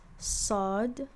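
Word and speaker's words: صاد: This one is sod. You pronounce it as saw. And like I previously explained, it's basically sa, but you have to create more space in the back of your throat, and do a similar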